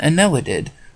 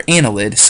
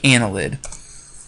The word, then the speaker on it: annelid: defining features of and Anela did or annelids Arya nila did annelid is how you say that I'm sorry Ana lid so annelids are worms